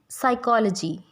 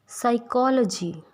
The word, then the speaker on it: psychology: When there is S and N after P, as in psychology, pneumonia, जब भी P के बाद S और N आता है तो P साइलेंट हो जाता है।